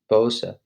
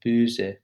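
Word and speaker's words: böse: to pronounce differently so if it was b-o-s-e without the two dots in the o it would be pronounced bosa but the two dots make it uh so it's booze so max's move says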